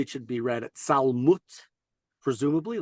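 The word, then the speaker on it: צלמות: Interestingly, this word salmavet earlier in the verse, gam kelech begeit salmavet, really should probably be pronounced salmut, like malchut.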